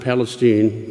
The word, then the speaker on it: Palestine: The locals pronounce it Palestine to distinguish it as the Holy Land of Texas rather than the Holy Land of the Middle East.